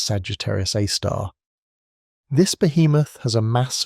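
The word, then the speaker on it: Sagittarius A*: At its very center, we find a super massive black hole known as Sagittarius A, pronounced Sagittarius A star.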